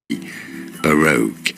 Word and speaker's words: Baroque: Bokura. Bakura. Baroque. Baroque. Mientras ves este anuncio, aplica protección solar sin dejar tu piel con una sensación pegajosa. Previene los daños del sol. Baroque is how Baroque.